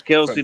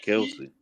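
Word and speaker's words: Kelce: That's literally how that's actually Travis Kelsey did the same a couple years ago. He said it's pronounced Kels, not Kelsey.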